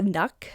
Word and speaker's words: nøkk: The nuck, or it's spelled N-O-K-K, is a water spirit that